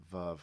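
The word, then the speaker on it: Veuve: No, I used to say Vuv, and it's Vuv, like love.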